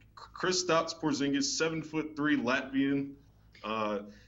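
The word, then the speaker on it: Kristaps Porziņģis: gonna do my best I believe it's chris stops porzingis um he's kristaps porzingis seven foot three latvian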